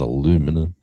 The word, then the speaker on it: aluminum: I'm like I was with Eddie, I think, and we're talking about aluminum, and I said it's aluminium, not aluminum. He goes, "It is not aluminium, it is aluminum," and this went on for about an hour.